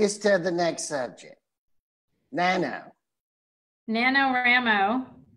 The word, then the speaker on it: NaNoWriMo: NaNoWriMo is what I call it. I'm pretty sure that's what it is, actually. Okay. I was like, I'm pretty sure that's how you say it.